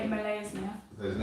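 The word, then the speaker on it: Molaesmyr: You say it Malay's now.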